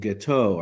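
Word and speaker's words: Guiteau: there there was a a deranged guy named gateau I believe is the pronunciation who was from New York and he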